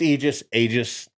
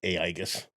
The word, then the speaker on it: Aegis: It's Aegis. Just don't call it Aegis or whatever the idiot called it.